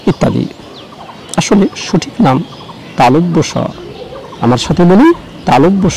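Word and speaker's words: তালব্য শ: এই সটি উচ্চারণে সবচেয়ে বেশি ভুল করে থাকি আমরা, কেউ বলি তালবিশ, কেউ বলি তালবস ইত্যাদি, আসলে সঠিক নাম তালব্য স। আমার সাথে বলি তালব্য স, তালব্য বলে কিছুটা থেমে বলুন স, তালব্য স, এভাবে অনুশীলন করুন।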